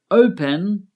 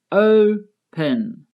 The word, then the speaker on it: open: The verb open has two syllables, open. The first syllable is stressed, open. Stressed means there is more emphasis on that syllable. Listen to the verb again and pay attention to the part of the verb that has more emphasis when I say it. Open. Open. The O is stressed.